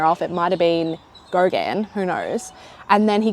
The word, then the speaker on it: Gauguin: He knew this other guy who I thought was Gauguin. I thought that's how you pronounced it. It's Gauguin.